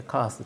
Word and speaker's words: KAS: 思いますであのこの kas でカースって発音するんですがこの url